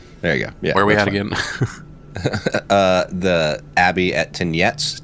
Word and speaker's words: Tyniec: The Abbey at Tyniec, Tyniec.